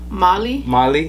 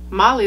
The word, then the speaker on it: Mali: Mali. Is it Mal? Mali. Mal or Mali? Mali. That's I think. Is it Mali? Okay, what if it's silent? Okay, Mali. You're overthinking. I'm 12% Mali.